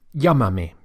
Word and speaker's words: llámame: To give the instruction or the order, call me, we would say, llámame. Notice how the accent or the emphasis falls on the first syllable, llámame.